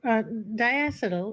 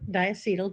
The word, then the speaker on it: diacetyl: So, diacetyl or diacetyl, depending on how you want to pronounce it, is a compound that occurs in some beers.